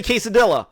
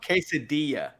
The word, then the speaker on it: quesadilla: please now I don't know how to say Kay cedilla ki cedilla that's why I say Kay cedilla quesadilla quesadilla quesadilla I said I used to say